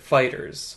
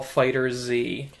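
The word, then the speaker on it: FighterZ: And because it's Dragon Ball Z, they replaced the S with a Z. But you Yeah. would still pronounce it Fighters.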